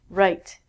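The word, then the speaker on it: write: same as this again we don't say the W and last one wrist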